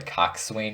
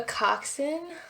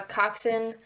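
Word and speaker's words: coxswain: to me what a Cox swne is a coxen well oh that's how you pronounce it yeah so silent S and W I guess um so a coxen so we have eights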